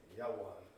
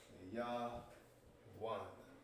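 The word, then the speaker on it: יון: Yawan. Yah-wan. Yah is getting pronounced independently. One.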